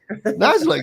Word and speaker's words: Niziolek: I think I've been saying it right, haven't I? I don't know. Nizelek. Nizelek, yes. Niziolek.